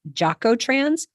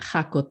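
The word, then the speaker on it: Jacotrans: the letter j and I've heard it pronounced Joo trans hakot trans and yako trans so Maria what's the right way for that I would say hakot hak hakot jalapeno hakot okay let's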